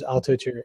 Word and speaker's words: Altucher: The last one, Altucher, is that how you pronounce his last name? James Altucher, yep.